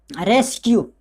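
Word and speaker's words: rescue: रेस्क्यू, आपको पता चल गया कि रेस्क्यू किस तरह लिखते हैं।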